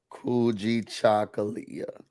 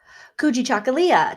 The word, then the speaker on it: Kujichagulia: Today is, I can't pronounce it. Can you say it again? Kuji Chakalia. Kujichagulia.